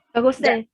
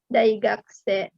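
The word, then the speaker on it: 学生: Dai gakusei. Kan ada dai gaku. Gaku itu sekolahan. Orangnya daigakuse. Ya. Jadi mahasiswa itu daigakuse, kalau siswa itu gakuse.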